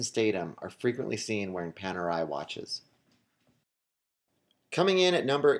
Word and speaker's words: Panerai: in at number nine is Italian watch brand Panerai and from what I understand and what I have read that is the correct pronunciation but if I am wrong I apologize